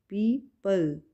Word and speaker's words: people: पीपल, यहाँ पे ओ right करेंगे लेकिन यहाँ पे प्रोनाउंस नहीं करेंगे ओ को। पीपल, PEOPLE, ओ साइलेंट, पीपल, ओके।